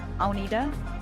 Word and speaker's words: Agnethe: everyone my name is the Danish version of it is Aida that might confuse you with the way it's spelled and don't worry about